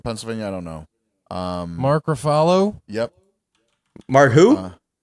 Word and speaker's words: Ruffalo: It sounded like you said Farfalo for follow. Oh, no. I mean, it's spelled it's spelled like buffalo, but with an R at the front.